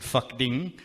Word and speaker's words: Phakding: a little village called Phakding. P-H-A-K Ding. And I did ask the guide, are you sure? Is that how you pronounce it? He's like, yeah.